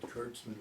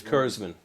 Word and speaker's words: Kurzman: Because you know my name is, they often pronounce it Kurtzman, which is. Kurzman. Right. I know better.